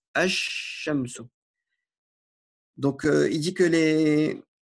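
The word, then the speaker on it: الشمس: Donc, on ne dira pas al-shamsu, on dira ash-shamsu.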